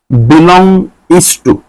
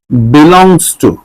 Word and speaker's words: belongs to: এখানে দুইটা চিহ্ন আমরা পাইলাম, একটা হচ্ছে এই যেটা ই এর মতো দেখতে, এটা হচ্ছে বিলং ইস টু, এটা হচ্ছে বিলং ইস টু। এখন এটাকে একটু সংক্ষেপে বলা যায় বিলংস টু।